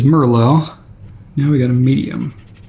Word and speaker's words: Merlot: I don't know why I said Merlot. That is not how I pronounce it. It is Merlot.